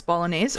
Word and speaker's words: bolognese: It's it's it's pronounced Bolognese. And here's why in French it would be A's.